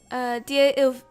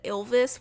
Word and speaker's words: Ivlis: That's right, Ivlis. I don't know why I always wanted to, like, pronounce it Ilvis when there's not an extra L in there. It's just an I.